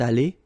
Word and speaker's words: allée: Phonetically, it doesn't exist. You don't pronounce it, so you get elle est allée, and then for the masculine form, il est allé.